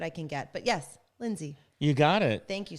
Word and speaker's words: Lynsey: Lindsay did I say that right you said it